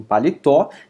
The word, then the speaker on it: paletó: Mesma coisa acontece em paletó, tem sua última sílaba ali, o tó, mais forte, então recebe acento também.